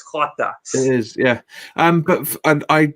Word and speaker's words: Jota: I think that's how you pronounce it, Jota. Yeah. Because J's are pronounced with a H in Spanish. I know that it's Jota.